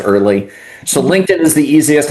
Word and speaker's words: Ehrle: My crazy last name of e hrl e, you'll find me pronounced early.